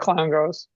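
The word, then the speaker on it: Clongowes: He did go to Clown Glows as well. So to Higgins did. Oh, So there's a so there's direct a connection there. He went to where? How do you say that? clown goes.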